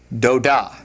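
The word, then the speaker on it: דודה: So that'd be pronounced how? Doda.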